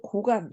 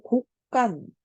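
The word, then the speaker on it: 곳간: 그런데 이 녀석을 고간 이렇게 안 하고 곡간. 자, 우리가 이렇게 사이소리 현상이 일어나는 자, 그런 발음으로 우리는 읽는단 말이야.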